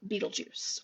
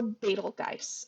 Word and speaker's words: Betelgeuse: That is the star Betelgeuse, or Betelgeuse. I've heard it pronounced a few different ways.